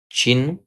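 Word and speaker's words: चिह्न: चिन्ह या चिन्ह इस तरह लिखना है शब्द। देखिए ह का उच्चारण पहले करना है और बाद में न का उच्चारण करना है।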